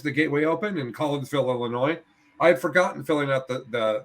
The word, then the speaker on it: Illinois: running an 82-person tournament that's fair you know illinois well enough to pronounce it illinois and not illinois you know the s is